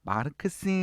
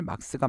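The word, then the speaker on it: Marx: 어 칼막스의 칼막스 아시죠 마르크스 라고도 발음을 합니다 원래는 독일 사람이기 때문에 칼 막스가 맞습니다 칼 막스가 자 사람은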